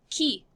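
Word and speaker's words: qui: very very simple word key yes it's spelled with a q u but the q u in french is pronounced like a k sound not a qu sound so this is pronounced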